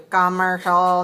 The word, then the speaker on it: commercial: otherwise i hear you commercial no stress no stress at all commercial how about this commercial yes much better you sound beautiful when you say commercial not coke very weak on the first syllable commercial all right how